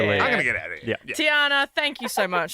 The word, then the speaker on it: Tiana: listener first time caller it's Tiana what did I say it is Tiana what did I say you said Tina and I it's spelled t i a n a but we get there Tiana it's all right it's not the first time I've heard Tina oh really oh wow